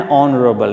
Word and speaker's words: honorable: An honorable. Now, dear students, remember, honor and honorable. Right? H is silent.